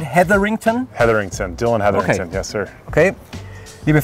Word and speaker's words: Heatherington: Heatherington, Dillon Heatherington.